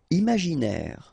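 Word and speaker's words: imaginer: Imagineer. Final not pronounced.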